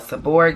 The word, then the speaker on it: seborrheic: um seven hair dermatitis some people call it seborrheic dermatitis some people say seboheric suberic i've heard it pronounced so many different ways but that's what